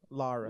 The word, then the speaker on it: Lara: It's pronounced Lara.